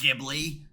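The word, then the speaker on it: Ghibli: Uh pronounced Gibli.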